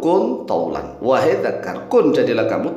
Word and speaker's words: كُنْ طَوْلًا: Jadilah kamu panjang nah tetapi orang Jawa biasanya dulu ini dibacanya waqaf waqf itu berhenti dihentikan sehingga terbaca kuntul kan begitu kuntul padahal tidak boleh wakaf cara membacanya enggak wakaf nih ya dakaru kun thlan wahai Dakar Kun Jadilah